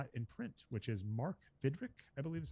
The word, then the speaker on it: Fidrych: I only saw it in print, which is Mark Fidrych, I believe is how you say it. Oh, yeah, Fidrych. Yep. Fidrych.